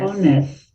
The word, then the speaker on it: honest: Honest. Honest. Whose turn is it? Who's speaking? There we go. Angelica. What's the silent letter? Angelica. The The H. That's right.